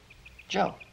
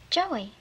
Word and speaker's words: Joe: is hey look now here's how you spell my name Jay oh B Joe Joey no no no not Joey Joe the East Side the E is silent right see the way